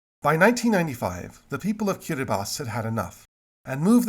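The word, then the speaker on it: Kiribati: so we arrive at the unfortunate archipelago of kiribas kiribas yes that is how you pronounce it is a far-flung speckle of Pacific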